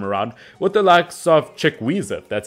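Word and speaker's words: Chukwueze: side this time around with the likes of chickweezit that's how you pronounce it from villarreal obviously the winger without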